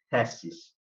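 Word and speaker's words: θέσις: Em grego clássico pronuncia-se thesis.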